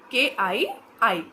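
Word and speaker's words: χ: Electronegativity को इस symbol से रिप्रेजेंट किया जाता है और इसे प्रोनाउंस किया जाता है, बोला जाता है की, KII, KII की।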